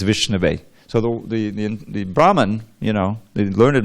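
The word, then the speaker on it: विष्णवे: But what it says is that the fool, he says Vishnaya, but the learned man, he says Vishnave.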